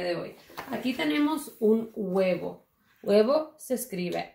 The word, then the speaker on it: huevo: 3 4 5 letras la primera letra es h y es silencioso en español no es no se dice el juego dice web se comienza con el sonido de la uba un huevo y nosotros